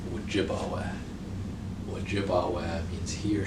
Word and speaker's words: Ojibwa: whack what i've heard chippewa and ojibwe are mispronunciations of ojibwa what jibawa means he